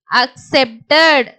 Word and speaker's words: accepted: இங்க சிக்கு பாத்தீங்கன்னா எஸ்ன்ற உச்சரிப்பு நம்ம தொடர்ச்சியா பார்த்துட்டே இருக்கோம். சிக்கு இஸ்ன்ற உச்சரிப்பு நிறைய இடங்கள்ல வரும். ஸோ அதையும் நீங்க ஞாபகம் வச்சுக்கோங்க. அக் சே இப் இட் அட் accepted accepted accepted.